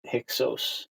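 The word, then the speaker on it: Hyksos: So after Aenatan gets thrown out and the Hixos the Hixos were the the you know the Greeks pronounced it Hixos.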